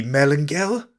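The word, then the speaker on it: Melangell: To this, the prince in admiration replied, "O most worthy Melangel," which is the way the Welsh pronounce Monacella, "because on account of thy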